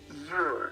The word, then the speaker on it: Ure: Midge Ure. Ure, okay. Ure, like it looks.